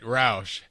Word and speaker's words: Roush: Yep, you're saying it right, Roush.